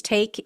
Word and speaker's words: Taake: custody no I don't take responsibility at all hey everyone welcome to the show a 35-year-old Texas resident Andrew take I think is how you pronounce it it's ta a k he is another accused